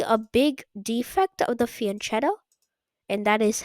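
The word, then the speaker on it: fianchetto: This is usually a big defect of the fianto and that is how you say it.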